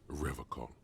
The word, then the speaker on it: Revachol: I've been calling it Revachol this whole time. He pronounces Revacol with a hard K, unlike other people.